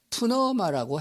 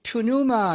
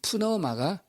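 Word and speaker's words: πνεῦμα: 헬라 말로다가는 푸너마라고 했습니다. 보통 영어로 비롯해서 헬라로 발음은 퓨뉴마 이렇게도 하는데 헬라 말 그대로 직역하게 되면 푸너마가 됩니다.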